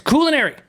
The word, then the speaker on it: culinary: his stupid british accent it's not pronounced culinary it's cool and airy culinary oh good grace